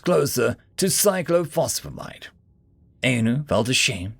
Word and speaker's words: cyclophosphamide: tried to speak it psychlo he said nervous close the two-legged ones said the two characters here when together sound like an f and that one at